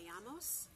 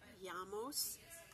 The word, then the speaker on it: llamas: If you'd like to ask somebody what their name is, it's como te llamas. The double L in llamos is always pronounced with a Y. So it's como te llamas.